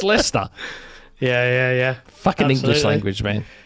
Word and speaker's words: Leicester: If you see Leicester spelled out, it's like Leicester. Licester. Yeah, Licester, but it's Leicester.